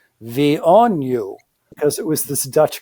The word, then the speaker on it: VNU: And the joke was that the way you pronounce VNU was V on you, because it was this